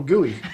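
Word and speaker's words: Guiney: that's still, yeah, I think it's pronounced Gooey.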